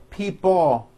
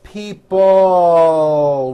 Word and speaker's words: people: this last word people it's not pronounced people with your tongue not moving it's people with your tongue slowly moving up and your jaw remaining down stretch out that l sound people like that here